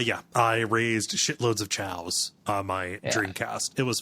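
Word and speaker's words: Chao: my uh my cow I don't know if that's how it's pronounced Chow I I always thought that was dumb I thought it should be KO but yes my Chow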